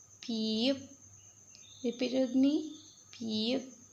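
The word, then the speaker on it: 피읖: Name is piyup. Piyup.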